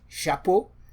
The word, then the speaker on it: chapeau: Chapeau, which means cap or hat. Le chapeau. You can see we're beginning already to combine these things. Shi, a, p, o. So to transcribe phonetically, sha, p, chapeau.